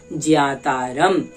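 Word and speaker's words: ज्ञातारम्: मान्यवर, संस्कृत का यह मूल ग्रंथ है और संस्कृत भाषा में ज्ञा बोला जाता है, ज्ञान नहीं, इसलिए हम क्या उच्चारण करेंगे, ज्ञातारम।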